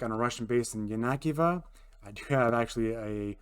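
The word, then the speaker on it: Yenakiieve: idea where I wanted to go apparently it's yanakiva and not yanikiva which is how I was pronouncing it if I remember right eventually uh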